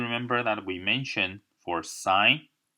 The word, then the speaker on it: sine: So one thing I like to mention is you kept seeing me write the sine theta. So I pronounce it as sine theta.